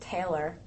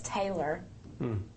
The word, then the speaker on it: Taylor: But, it's interesting because I grew up in Pennsylvania, where they pronounce it Taylor. And then I moved south to Tennessee, where it's Taylor. And then in Australia, it's Taylor.